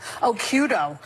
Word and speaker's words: Occhiuto: I had mine because my original Italian-American name was too hard to pronounce. Occhiuto.